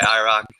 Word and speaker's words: IROC2: We just go by IROC. The 2 is silent.